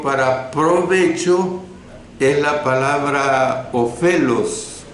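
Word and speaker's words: ὄφελος: La palabra del idioma griego para provecho es la palabra ofelos, con O al principio, P, H intercalada, E, L, O, S, se pronuncia ofelos. Esta palabra provecho o ofelos significa aumentar y significa también ventaja.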